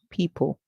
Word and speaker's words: people: the word people where we said the O is silent the E makes a